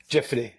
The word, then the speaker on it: Jiffity: You started in the startup world, if I'm pronouncing this right, Jiffity. Is it Jiffity? Jiffity, yeah. Jiffity.